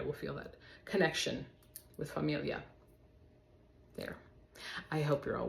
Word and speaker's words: famiglia: the word it it I always like to picture my tongue twisting just a little bit like B uh like